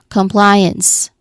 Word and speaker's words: compliance: Ans and compliance. Compliance. So the stress on the second syllable is important and you make sure that the ply part is emphasized.